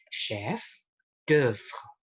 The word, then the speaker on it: chef d'œuvre: Bacanya tetap sama, E, chef d'œuvre.